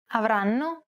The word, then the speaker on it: avranno: The first N is held for roughly the same amount of time as all the other syllables. Avranno.